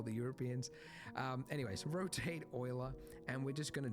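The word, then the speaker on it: Euler: shift a utilities rotation rotate not Ula oila that yes I know they went with the weird pronunciation I think it was a Frenchman right could be German doesn't matter same same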